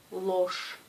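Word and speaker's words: ложь: Dans la vidéo précédente, je dis que G à la fin d'un mot se prononce ch. Alors ce mot se prononce loche.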